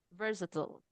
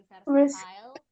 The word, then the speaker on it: versatile: Versatile. Jadi bukan versatile, bukan versatil, versatile.